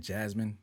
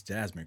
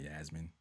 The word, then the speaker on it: Jasmine: It's not Yasmin, isn't it? Jasmine. He said her name wrong. It's Jasmine Crockett. It's not Yasmin.